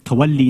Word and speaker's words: tawalli: A lot of stuff on tawalla and tabarra, which is not even the correct pronunciation, by the way, but that's fine. Let people come and mispronounce it and explain those terms as much as they want, right? Because that's what's important. It's tawalli and tabarri, but whatever, it doesn't matter, right?